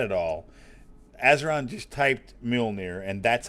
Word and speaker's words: Mjolnir: I suppose it's probably not always pronounced the way I pronounce. I pronounce it Mjolnir. I don't know how it's actually pronounced. That's how I pronounce it. Neither do I. It always sounds funny to me because it sounds like I'm saying mule, like mule. Near.